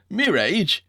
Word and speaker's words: mirage: asked Uncle Benjamin, and not waiting for Valancy to give it up, he added, "Mirage and marriage." M-I-R-A-G-E is pronounced mirage, said Valancy shortly, picking up her tea and her beans.